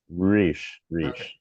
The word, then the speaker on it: Reich: your name is Yes, pronounced Reich and not Reich? Riche, Okay. yes, So it's Stephen Reich. yes, and you can really All give right. the Yeah. emphasis on the sh.